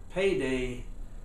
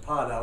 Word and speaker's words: PaDa: So a lot of people pronounce it Pada, but I had lines over the A's, so it was payday for Parham and Davis.